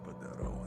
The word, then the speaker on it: Padero: Well, he must be Padero? Is that how you pronounce that? Padero, and yes.